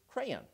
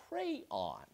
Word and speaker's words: crayon: effect, the word is crayon? Or is it a two-syllable word pronounced on, so that it rhymes with dawn? It is a crayon. Or is it a one-syllable word, crayon?